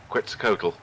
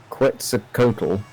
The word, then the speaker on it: Quetzalcoatl: If how are we pronouncing Andy's opponent's name? Quetzalcoatl. Quetzalcoatl.